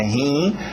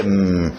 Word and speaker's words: him: Cuidado com esse I, não coloca meus rins aqui na história. Não é rim, é him.